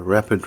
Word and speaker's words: rapid: rapid a rapid rise a rapid rise stress on the first syllable a rapid rise or sales rose